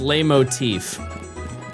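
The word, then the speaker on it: leitmotif: It's pronounced lay motif.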